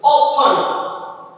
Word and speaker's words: often: often t આપેલો છે છતાં એનું ઉચ્ચારણ often ન થાય. why? t is the silent, કારણ કે t શું છે ત્યાં? સાયલેન્ટ છે અને વંચાય often નથી બોલતા.